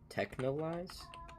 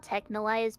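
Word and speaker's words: Texhnolyze: Technoise. It's called Technoise, but it's spelled really weird. Like with an X.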